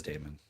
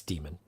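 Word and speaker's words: Daemon: It's pronounced Demon. I know it's I know, spelled but everybody Demon. says Damon. Yeah. It's Demon.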